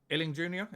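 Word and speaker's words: Illing-Junior: I've actually wrote here, Illing Jr., is that how you pronounce his name?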